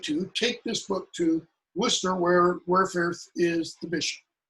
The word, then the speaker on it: Worcester: If you pronounce it in modern English, Worcester. You don't say Worcester, okay? The middle CES is elided out.